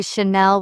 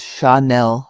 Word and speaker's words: Chanel: I notice people say Chanel with a hard ch. The French pronunciation is Chanel, soft and flowing.